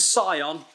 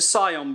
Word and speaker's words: Scion: the I'll get it it's the scon I'll say it correctly this time it's the Scion brand and you can just